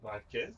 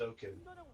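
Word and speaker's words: 5kid: Is 5 kid? Oh, kid. I keep calling him 5. I like calling him 5 kid. But apparently it's pronounced O kid because of how 5 is pronounced in Korean.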